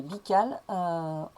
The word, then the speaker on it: Bical: Et dans la maison d'Antoine Vical, ou Bical, cette fois-ci ça doit être un B. En tout cas c'est un B, Bical, c'est sa prononciation.